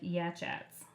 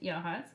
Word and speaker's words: Yachats: town called Yachats and it looks like it's spelled like yeah chats but it's actually pronounced yaha one of the Native American words actually don't